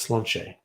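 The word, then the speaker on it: Sláinte: So the toast is Slainte, and that's Gaelic. It's pronounced Slanche.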